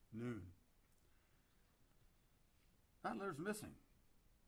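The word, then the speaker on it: nun: letter n in hebrew spelled n-u-n but pronounced noon that litter is missing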